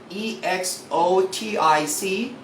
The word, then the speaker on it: exotic: How about EXOTIC must be pronounced as exotic.